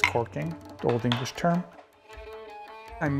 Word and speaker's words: caulking: now I'm recaulking Dorothy it's spelled caulking but usually people pronounce it as corking the old English term